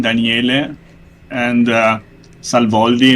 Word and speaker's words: Daniele: doing in our stream okay daniele in italian it's a male name daniele and uh salvolvi it's okay i am an egyptologist with a phd from pisa university 2011.